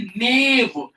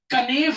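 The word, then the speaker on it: knave: इसका दूसरा नाम होता है नेव। नेव। कनेव मत बोल देना। नेव बोलना। जैक। मतलब गुलाम का दूसरा नाम कनेव मत बोल देना के साइलेंट है नेव क्या नेव जैक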